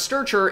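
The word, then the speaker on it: strchr: short names and so this function that we pronounce sturger bad name but hey we'll go with it that we pronounce starcher is equivalent to doing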